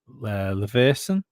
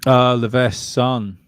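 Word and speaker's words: Leveson: Leverson. We're not pronouncing the E.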